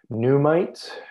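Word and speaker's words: NUMTs: that defines these different types of transfers so pneumites as it's pronounced these is these are fragments of mitochondrial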